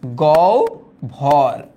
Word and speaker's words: গহ্বর: আচ্ছা, গ্রামের প্রান্তে সেই জঙ্গলের মধ্যে কবরের পাশে দাঁড়িয়ে বুকে ঝোলানো তামার দাঁত খিলাল দিয়ে দাঁতের গহ্বর, এটার উচ্চারণ কিন্তু গহ্বর, হ্যাঁ গহ্বর খোঁচাতে খোঁচাতে মজিদ সেদিন সে কথা স্পষ্ট বুঝেছিল।